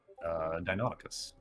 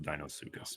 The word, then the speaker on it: Deinonychus: Deinonychus, or some scientists pronounce it Dinosuchus, but I think they're dumb.